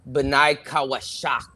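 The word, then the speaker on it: בני חושך: Benai Awar is the sons of light, and the sons of darkness is pronounced Benai Kawashak.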